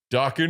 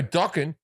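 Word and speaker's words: Dokken: He goes, you don't know docking? It rhymes with rocking.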